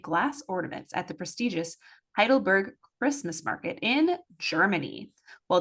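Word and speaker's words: Heidelberg: on to Sunday November 12 a oh boy heidleberg holiday is that how you say it yes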